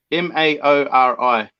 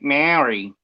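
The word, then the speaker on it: Māori: my bread is malty m-a-o-r-i wait m-a-o-r-i yeah they pronounce it moldy yep because you roll the r so it's like a maori okay but if you're australian you just say marry because they don't no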